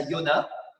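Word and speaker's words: יונה: si vous saviez mais en hébreu on prononce ça Yona et ça signifie colombe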